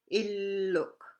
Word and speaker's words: illuk: Remember, you got to stress your two L's there. Illuk, as in house, and uluk, as in lady's knife.